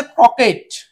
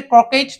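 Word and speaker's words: croquet: আর এটা হচ্ছে ক্রকেট, এটাকে ক্রকেট না বলে শুধু ক্রকে বলতে হবে, কারণ এই টি এর উচ্চারণটা হবে না।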